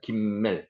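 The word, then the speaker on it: גימל: 김멜, 기멜이라고도 있습니다. 글자의 한 걸음가는 기역입니다. 기역. 김멜.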